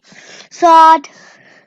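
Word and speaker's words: ص: Do you know why this is colored in red? Because it's a thick sounded letter. Very nice. So we have to read it with our mouth rounded a bit.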